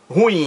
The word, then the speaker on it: ruim: Ele pronunciou a palavra ruim, ruim, ruim, ruim, como se fosse monossílaba. Não, ela é dissílaba. E o acento mais forte recai na última sílaba. Ruim, ruim. Olha aí, ruim é a pronúncia correta.